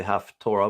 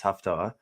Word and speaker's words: haftarah: there's also the haftarah now sometimes people say half torah but that's not proper pronunciation it's haftah just so you know and then we have